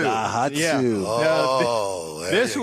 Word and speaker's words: Daihatsu: Daihatsu. Daihatsu.